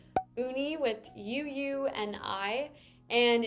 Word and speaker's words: Ooni: uni or you know a lot of people would hear people say uni and then not really know how to spell it they wanted it just super easy for consumers to be able to search and find them in 2018 they just changed to ooni which is the phonetic spelling of movie obviously for